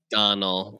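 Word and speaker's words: Domhnall: It's pronounced Donald, but it's Domhall, I think.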